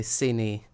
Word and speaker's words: Cine: Oh yeah, never mind, it's most likely Cine, like Vinny.